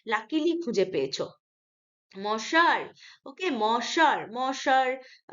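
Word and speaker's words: monsieur: মশার, ওকে, মশার, মশার, সারি উচ্চারণ হবে, সিএইচ ইয়ার, চের হবে না। মশার মানে মাই ডিয়ার, ফ্রেঞ্চ ওয়ার্ড আর কি, মশার, my dear sweet heart, he ইজ a sweet heart.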